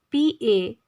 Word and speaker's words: panegyric: In segment of vocabulary building, our word number 21 is P-A-N-E-G-Y-R-I-C. The pronunciation of this word is panegyric. P-N-J-R-I-C. Panegyric.